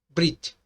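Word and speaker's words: בְּרִית: temos a palavra Brit Brit né alguns fala berit mas esse e aqui ele pronunciado muito rápido então é Brit Brit Brit Você fala muito rápido ali tá bom yalal você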